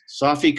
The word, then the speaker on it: Safi: I've seen your name for years and we've talked and so on, but Safi, is that correct? Absolutely. Safi.